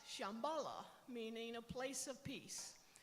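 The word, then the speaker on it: Shambhala: and wisdom Reigns and they use a really old Sanskrit word to name this place it's most often pronounced Shambala meaning a place of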